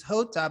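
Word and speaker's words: jota: i do know that the spanish word for j is hota but i think it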